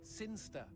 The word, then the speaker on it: Sinchester: Sinster. What? It's pronounced Sinster. How do you know?